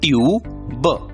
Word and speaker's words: tube: यू, और इसलिए शब्द का उच्चारण होगा टी की आवाज ट, यू का नाम यू, बी की आवाज ब, उच्चारण होगा ट्यूब, ट्यूब। और एक शब्द देखते हैं।